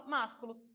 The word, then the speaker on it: másculo: Se não tivesse o acento no má, na sílaba má, a palavra viraria masculo. Só que aí a gente coloca o acento, aí a gente fala másculo.